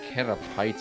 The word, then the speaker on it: Caterpie: Oh yeah, That's why I would call it Cater Pie. You're not wrong, and then and Unicyclic points out Magpie. I just know that in the anime they pronounce it Caterpie, so I've always pronounced it Caterpie.